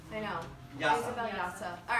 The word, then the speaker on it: Jasa: Isabel Yasa. All right. Nuts for Nutcracker by Isabel Yasa.